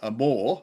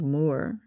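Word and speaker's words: Mohr: But to be fair on the actor Gerald Moy Moore, sorry, pronounced spelled M O HR, but pronounced Moore.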